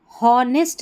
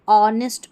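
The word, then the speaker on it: honesty: पर देखें यहां पर हॉनेस्ट नहीं पढ़ेंगे। यहां हॉनेस्ट नहीं ऑनेस्ट पढ़ेंगे। यहां पर लिखा हुआ है। अब इसको हॉनेस्टली नहीं ऑनेस्टली। ठीक है? एच यहां पर साइलेंट है। यहां पर होनेस्टी नहीं ऑनेस्टी।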